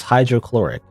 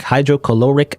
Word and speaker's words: hydrochloric: I don't know why I for some reason I expect the additional syllable like hydrocaloric acid or something but now it's hydrochloric acid um mixing them mixing that